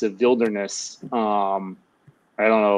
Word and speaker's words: VV Wilderness: It's a Wilderness, I don't know if it's like literally two V's, if you pronounce it Wilderness at that point, I don't really know, but it's VV Wilderness. It's not spelled like, you know, Wilderness would be in English.